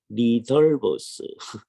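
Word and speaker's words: Ridderbos: 그분이 번역을 했는데 그래서 우리가 리델보스라고 번역을 했어요. 그랬는데 나중에 화란에서 공부하신 분들이 이 발음을 그렇게 안 하는데요. 그런 거예요. 그죠? 그래서 이제 고쳐야만 하는 게 지금도 인쇄는 리델보스라고 되어 있습니다. 여러분 그 책 가지고 있었을 거예요. 네. 신약 시간에 읽었을 책입니다. The Coming of the Kingdom, 하나님 나라라고 번역된 책. 헤르만 리델보스라고 되어 있죠. 그걸 갖다가 이제 전부 다 리덜보스. 화란에서 이제 그렇게 발음을 하니까 그걸 따라서 해줘야 됩니다.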